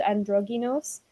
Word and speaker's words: androgynos: which is actually called androgynos, which the reason why it sounds like the word androgynous is because this word actually comes from Greek, because a lot of Jewish writings were written in Greek.